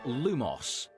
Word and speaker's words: lumos: go the incantation to light one's wand is lumos your turn try saying the incantation for this